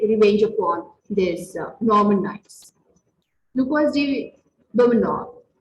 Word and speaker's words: Lucas de Beaumanoir: Lucas de Beaumanoir. These are the French names, so their pronunciations are very different. Lucas de Beaumanoir.